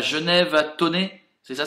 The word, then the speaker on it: Thônex: c à genève a tonné c'est ça ça s'écrit thônex mais ça se dit sonné je crois lucky fanbase ballu kiffan